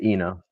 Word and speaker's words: Enoh: Uh is it Eno? Is that how you pronounce it? Yeah, Eno.